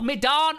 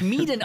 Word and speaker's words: Medan: Es wird auch Medan ausgesprochen. So wie Medan. Es wird nicht Miden ausgesprochen. Nicht Miden, nicht ey, yo, checker in wer, the house.